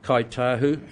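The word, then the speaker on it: Kai Tahu: You will remember that both Trustpower and Kaitahu, and that's not a misspelling, that's the way it's pronounced where I come from, withdrew as institutional investors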